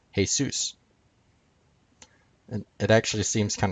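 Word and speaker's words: Jesús: hail Zeus comes from the Spanish name for Jesus which is pronounced hey Seuss and it actually seems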